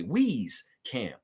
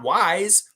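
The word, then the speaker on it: Wieskamp: Wee's Camp that's right say his name correctly wheeze Camp wheeze wheeze not wise not wise he is wise but he's not wise he's wheeze wheeze Camp wheeze like we We are family we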